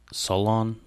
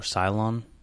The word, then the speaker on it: Solon: card I'm gonna talk about Solan or Cylon I've heard two different pronunciations he is or was